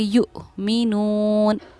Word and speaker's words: يؤمنون: वहीं यहाँ हमज़ा पर जज़म सकून है तो इसको हम हमज़ा साकिना कहते हैं और हमज़ा साकिना के पढ़ने में हमेशा झटका होता है, इसीलिए हम इसको झटके से पढ़ेंगे युमिनून, युमिनून।